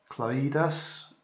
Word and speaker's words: Klaidas: guys got a request here from wide we pronounce this clay thus drift he wants an RC car made with